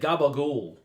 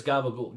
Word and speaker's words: capicola: with Italian culture says, the way you guys in America pronounce stuff, like, you know, if you said Gabagool to an actual Italian, I mean, from Italy, they're going to be like, what is Gabagool? You mean Capicola?